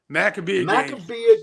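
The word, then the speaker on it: Maccabiah: Maccabea Games.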